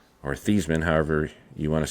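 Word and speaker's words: Theismann: This is my, uh, old school Irish helmet that was signed by Joe Thyman or Thesman, however you want to say it. Uh, obviously they changed his name to rhyme with Heisman.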